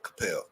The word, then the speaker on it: Coppell: at Coppell High School Coppell I'm gonna say it right Capell um and he can